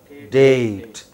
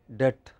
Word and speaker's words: date: Date. Okay. What is the spelling of the word date? D-A-T-E. But if you pronounce it quickly, it sounds like debt. Then your listener is confused.